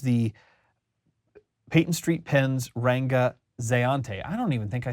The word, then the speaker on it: Zayante: Zeante. I'm going that's how I'm going to pronounce it.